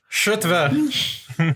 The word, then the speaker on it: Kjotve: Shutve. You don't pronounce the E like an A.